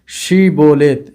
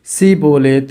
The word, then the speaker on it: ஷீபோலேத்: கேட்பார்கள் இல்லை என்பான் பிறகு ஷீபோலேத் என்று சொல் என்பார்கள். அவன் அப்படி சொல்ல முடியாமல் சீபோலேத் என்று உச்சரிப்பு அவனுக்கு வருகிறது. ஏனென்றால் எப்பிராயமருக்கு ஷீப போலேத் ஷீ என்ற வார்த்தை அவர்களுக்குள் வாயில் நுழையாததால் அவர்கள் சீ போலேத் என்று சொல்வார்கள்.